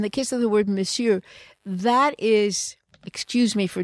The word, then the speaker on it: monsieur: Monsieur. And maybe it's because it's spelled differently, because it's monsieur, you know, monsieur, but it's monsieur, monsieur. You don't say it like you see it.